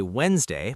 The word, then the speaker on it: Wednesday: We say Wednesday, but write Wednesday because of history. Isn't language fascinating? A silent D can tell you a story about Viking gods in Old English.